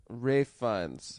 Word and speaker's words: Ralph Fiennes: Ralph Fiennes? Mhm. Rafe Fiennes? Rafe? Have you've seen Yeah. Schindler's List? Yeah, I have. Somebody told me it's pronounced Rafe. Rafe Fiennes.